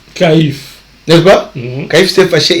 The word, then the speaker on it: Caïphe: Cette phrase, quand Jésus l'a prononcée devant Caïphas, c'est Caïphe, n'est-ce pas?